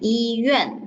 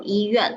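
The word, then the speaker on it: 医院: So 医院, okay, your pronunciation 医院, this word just now not so clear. So 医院, hospital.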